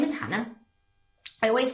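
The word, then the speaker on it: Jana: They said, "Okay, we'll call her Hannah, how it's spoken, but we're just going to spell it J N J A N A."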